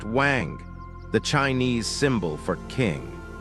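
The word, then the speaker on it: 王: you may be seeing the character Chinese letter pronounced wang, the Chinese symbol for king.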